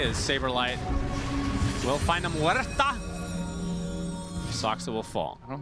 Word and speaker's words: Muerta: It's getting pretty close, about 500 away, as Saberlight will find a Muerta. Soxa will fall. I don't think that's how you pronounce that. Muerta.